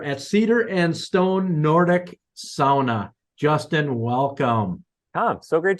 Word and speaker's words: sauna: you though you Tom pronounce SAA in The Finnish dialect not sauna like we sort of commonly hear SAA uh so if people